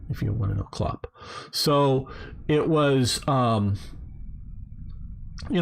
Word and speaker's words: clop: then be invested into making your clop machine it's spelled c-l-o-p if you want to know klopp so it was um you know so that's